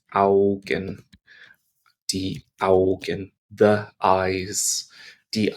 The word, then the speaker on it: Augen: AU, when it comes together, makes an ow sound. Ow. Ow. Like you've just dropped a can of baked beans on your toe. British reference. Ow. Die Augen. Die Augen.